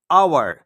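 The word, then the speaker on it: hour: अबने देख आवर अब यहां पर जो एच है ये हमारा साइलेंट है इसको हम बोते आवर आ आ तो यहां पर हम एन आवर एन आवर तो यहां पर एच हमारा क्या है साइलेंट है एच यहां पर कंसोनेंट तो है पर ये साइलेंट है इसलिए आप इस चीज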